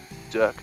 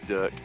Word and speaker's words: Dirk: film, like a short film, where you have Dirk the Daring. Dirk. So it's not supposed to be pronounced Dirk.